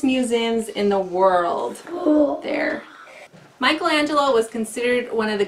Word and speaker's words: Michelangelo: to learn about but in Italian it's Michelangelo mangelo and his full name